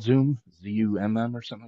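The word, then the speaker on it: Xumm: Z-U-M-M or something like that? You talking about the XRP wallet? Yeah, X-U-M-M or something like that. Yeah, I think they actually pronounce it Zum, the Zum wallet.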